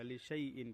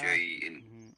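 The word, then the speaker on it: لشيء: یہاں پہ لشا ہے، لشا الف لکھ رکھا ہے لیکن پڑھا نہیں جائے گا، لشیء پڑھا جائے گا اس کو، لا، لشیء، لیکن، لیکن، ہاں، لأذبحنہ،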